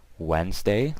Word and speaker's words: Wednesday: tu es and day Wednesday like I said the D is silent don't forget that W easy NES and day so Wednesday Thursday th